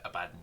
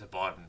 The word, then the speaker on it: Abaddon: I used to call it Abaddon. It's Abaddon, but it took me like 3 years to figure that out.